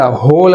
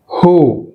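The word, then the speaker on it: who: మనం ఇంతకుముందు వెన్ అన్నప్పుడు ఏమొచ్చింది, హెచ్ సైలెంట్ అయింది, వెన్ అన్నప్పుడు హెచ్ సైలెంట్, బట్ ఇక్కడ హోల్ అన్నప్పుడు డబ్ల్యూ సైలెంట్, రైట్.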